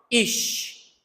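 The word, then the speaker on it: איש: original em que a Bíblia foi escrita, se pronuncia assim, ó, ish.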